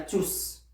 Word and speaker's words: tous: masculin pluriel on a tous et si on peut prononcer le s puisqu'il est prenant puisqu'il est prenant on prononce le s mais en tant que déterminant on ne peut pas le prononcer on ne peut pas